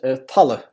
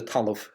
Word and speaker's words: talamh: So this word was probably pronounced Tala in the area, Tala, as opposed to Talamh in Munster.